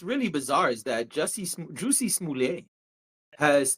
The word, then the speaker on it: Smollett: My heart goes out to the entire Smoulier family.